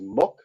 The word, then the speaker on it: muc: I don't know how to pronounce this because Irish pronunciations are a little odd. The Irish word for a hog is muck, or M-U-C.